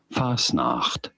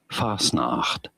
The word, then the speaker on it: Fastnacht: So how do you go about pronouncing it? Fastnacht. Fastnacht.